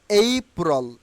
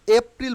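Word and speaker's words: April: ইনশাআল্লাহ তাহলে আপনার এখন এই এপ্রিল বলবো না আমরা কি বলব এই প্রল এইপ্রল ওকে মেয়ের ক্ষেত্রে আমরা আর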